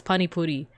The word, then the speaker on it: pani puri: Yes, it's pani puri.